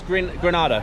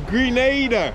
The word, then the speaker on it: Grenada: how do you pronounce how do you pronounce Granada it's Grenada Grenada Grenada yeah everybody with my